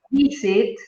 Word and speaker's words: visit: Si vos decís visit, ¿sí? La acentuación de la palabra recae en la primera sílaba.